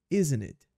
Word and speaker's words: isn't it: isn't it isn't it Quase que esse T aqui a gente não pronuncia né isn't it isn't